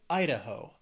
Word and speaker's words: Idaho: Hawaii then we have Idaho has three syllables stress is on that first syllable Idaho Idaho when I think of Idaho I think of potatoes